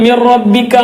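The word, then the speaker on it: مِن رَبِّكَ: മിൻ റബ്ബിക്ക എന്നുള്ളത് മിർ റബ്ബിക്ക എന്നാണ്. മിർ റബ്ബിക് അല്ലേ, അങ്ങനെയാണ് ഓതേണ്ടത്.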